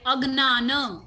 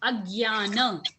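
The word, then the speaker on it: अज्ञान: Some people pronounce this as Gna, like Agnana. Some people say Gya, Agyana, and both are okay.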